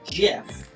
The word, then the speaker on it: GIF: record to state that it is not pronounced gift it is pronounced Jif and people still and